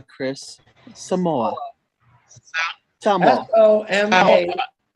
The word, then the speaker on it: Samoa: Spell it for me. S-O-M-A-A. Samoa, Chris. Samoa.